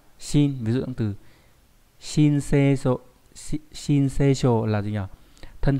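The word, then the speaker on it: 申請書: Âm on'yomi đọc là shin, ví dụ trong từ shinseisho, shinseisho là gì nhỉ?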